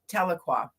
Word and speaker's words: Tahlequah: So, and it's Tahlequah. Okay, Yeah. I wasn't about to butcher the name of that.